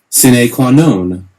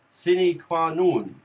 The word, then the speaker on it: sine qua non: And so pronunciation is like this. Sine qua non. Sine qua non.